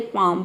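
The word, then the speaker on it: palm: और यहाँ पे देखिए पाम में भी एल के बाद एम आया है लेकिन, और एल के पहले ए आया है, यहाँ पे भी हम एल को प्रोनाउंस नहीं कर रहे हैं। पाम, पाम का मतलब होता है हथेली।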